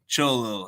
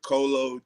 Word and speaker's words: Choloh: It's Cholo, but I done heard Colo, Chili, all type of stuff.